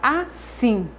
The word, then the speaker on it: assim: Da palavra assim, o sim é a sílaba tônica dessa palavra.